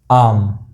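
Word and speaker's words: arm: आम, आम, ये र मैंने यहाँ पे ब्रैकेट में रखा है क्योंकि वो साइलेंट भी हो सकता है।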